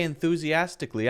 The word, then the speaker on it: enthusiastically: When I say enthusiastically, I'm actually saying enthusiastically. Oh, I'm saying cully. But actually, that's not the correct pronunciation. It's clee, not cully.